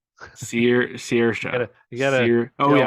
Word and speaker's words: Saoirse: Saoirse. Saoirse.